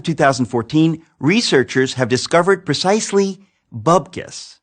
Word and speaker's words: bupkis: As of 2014, researchers have discovered precisely bupkis. Bupkis is spelled with a P, moron.